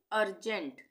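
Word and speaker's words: urgent: यहां पे अर्जेंट।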